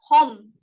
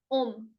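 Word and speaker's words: homme: For example, when I say Om, which is man, I never say Hom. I said Om.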